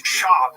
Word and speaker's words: Schaub: It's Schaub. You have to say his name right.